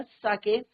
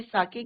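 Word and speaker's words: sake: अब साके क्या है, कल भी हमने बोला था, इसको सेक नहीं पढ़ेंगे, it's pronunciation is your साके, Japanese string है।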